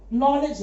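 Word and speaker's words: knowledge: अब तीसरा जो शब्द मैंने लिखा है यहां पर, नॉलेज की बात जो की है, वहां पर क्या है, नॉलेज है, के साइलेंट है।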